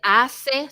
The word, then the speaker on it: hace: Remember we said H is silent. Thank you, Jillian. Go, Elijah. What did you hear Jillian say? Miss, I didn't hear her. She said hace sol.